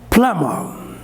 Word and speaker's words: plumber: pronounce it plumber plumber what is the correct pronunciation plummer what is this plum means the final ra